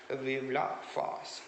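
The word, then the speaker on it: Vive la France: written in french okay vivla fast that is the way it is pronounced in the french language okay fast then he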